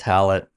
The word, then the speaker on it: Hallett: And you're saying Hallett like mallet. Yeah, mallet with an H.